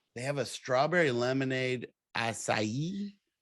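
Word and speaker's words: açaí: strawberry lemonade acai okay did i say it right i don't know i don't i'm not that sounds right it sounds i mean it sounds magical yeah that sounds right it's not a k i'll tell you that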